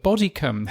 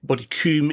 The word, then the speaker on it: Bodycombe: very pleased to welcome onto the show David Bodycombe. Have I pronounced your surname correctly, David? That's right. I suppose should be Bodycombe if you want to do the sort of